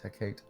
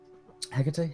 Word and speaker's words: Hecate: evil purse see here my idiot ass thought is pronounced her cake but I'm dumb Greek gods much fun though Hecate hikate syllable um yeah yeah okay